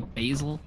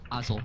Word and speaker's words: Basil: And again, I say stuff like an American, like Basil. Oh, you say it like Basil. Say Basil. Basil, like Basil Brush.